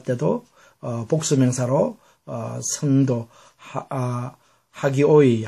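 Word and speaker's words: ἅγιοι: 뜻입니다 자 그 다음에 그래서 왜 하가 되느냐 하면 여기와는 다르게 여기는 전부 다 연승표로서 h 발음이 포함이 안 되죠 여기에는 강순표죠 그래서 허가 포함되어서 하교사들은 것입니다 남성이고 하기야 그 다음에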